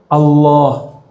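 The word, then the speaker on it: الله: Bukan o juga, tapi antara a dan u itu Allah. Jadi cara baca Allah sih bukan Allah. Allah. Jadi A tapi cenderung kepada U. A cenderung kepada U, bukan Allah. Tapi Allah. Bacanya A, tapi lidahnya ngarah ke U.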